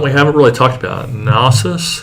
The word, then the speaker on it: Nasus: haven't really talked about nasus is that how you pronounce it yeah oh goodness okay you're